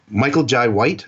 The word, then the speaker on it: Michael Jai White: Michael Jai White, I think I think I'm saying his name wrong.